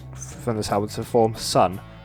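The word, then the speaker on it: Sunn: Later, Steven Ali and Greg Anderson will be inspired from this album to form Sun. The O isn't supposed to be pronounced, which are still going till this day and releasing new album in April this year.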